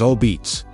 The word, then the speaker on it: Apizza: New Haven Style Apizza, locally pronounced as "ah-beets", this variation is characterized by its intensely charred, irregular crust and chewy texture.